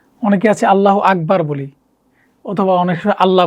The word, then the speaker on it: আল্লাহু আকবার: আকবার না অনেকে আছে আল্লাহু আকবার বলি অথবা অনেক সময় আল্লাহ বলি আল্লাহু শব্দটা আমরা একটু ভালো করে উচ্চারণ করার চেষ্টা করব আল্লাহু আকবার আল্লাহু আল্লাহ আল্লাহ শব্দটা আমরা মোটা করে বলার চেষ্টা করব আল্লাহু আকবার আল্লাহু আকবার